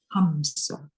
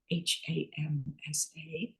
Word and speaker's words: Hamsa: I am going to spell it Hamsa, Hamsa, and then I'll demonstrate how we use it. On our in-breath, we say hum silently to ourselves. And on our out-breath, we say sa silently to ourselves.